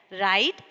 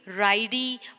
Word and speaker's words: ride: Like, ride, bike, pile, hide. Here, we can't read ridey, bikey, piley, hidey. Can we read in this way? No, because here the letter E is silent.